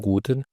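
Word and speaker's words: Guten: زي ما هي هالو جوتن مورجن الجي في الالماني او الحرف زي الجي كده في الانجليزي بيتنطق جامد يعني ما بننطقش جي ولكن دايما جي اللي هو زي الجيم فدي تبقى مثلا جوتن او لو انت اخدت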